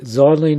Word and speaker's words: xylene: It's not even pronounced with an X. Xylophone is Z, xylene is Z, even zebra's Z.